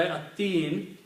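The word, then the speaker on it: التين: At-Teen, surah At-Teen, lam is not pronounced, ta is pronounced twice.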